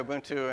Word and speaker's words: Ubuntu: Am I pronouncing that right? I say Ubuntu. Same? Okay. So my nephew said, try Ubuntu, and of course I ignored him.